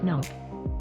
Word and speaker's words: NOC: The orbiting satellite transmits and receives its information to a location on Earth called the Network Operations Center, or NOC, pronounced NOC.